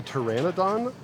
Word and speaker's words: Pteranodon: thing is that a is that the Pteranodon with a p silent p is it I'm sorry